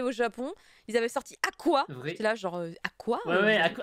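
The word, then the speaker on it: Aqours: Ils avaient sorti Aqua. J'étais là, genre, Aqua Ouais, à course. Oui, qui se prononçait Aqua. Ouais. C'est écrit à course, mais ça se prononçait Aqua.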